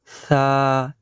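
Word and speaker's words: ثاء: তারপরে হচ্ছে বা, তা, সা। এটাকে জিভটা একটু আগের দিকে আগিয়ে নিয়ে আসতে হয়, তারপরে উচ্চারণ করে দেখবেন উচ্চারণটি সঠিক এবং শুদ্ধ হয়েছে, পরিষ্কার হয়েছে।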